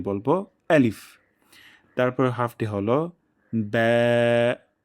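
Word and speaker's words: ب: এবং এখানে একটা ভুল হয়ে যায়। অনেকে আমরা বলে ফেলি বা, বয়কার বা, বাংলার মতন উচ্চারণ করে ফেলি। যেহেতু এটি পাতলা হরফ, তাই উচ্চারণের প্রথম অংশ ব্যা এভাবে উচ্চারণ হবে।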